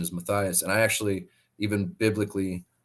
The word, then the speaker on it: Matthias: name was was awesome I thought it was Mathias for so many years but um I realized I found out that the the pronunciation is Matthias and I actually even biblically um which I'm